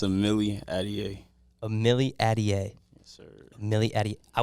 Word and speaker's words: Amilliatelier: want to mess it up how do you pronounce it it's a Millie Adie Amelie Adie yes sir Millie Eddie I was definitely gonna